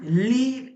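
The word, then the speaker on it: gli: লক্ষ্য করুন, ইতালিয়ান লি উচ্চারণে জি কিন্তু উচ্চারণ হয় না, এটি লি হিসেবে উচ্চারণ হয়।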